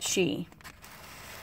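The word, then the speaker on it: Sidhe: And this is actually pronounced she, which is the Irish word for fairy.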